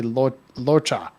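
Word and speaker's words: Luocha: characters and really she's she was very heavily on the locha and the cha is not it's not an English like hard CH it's like a ta so I'm really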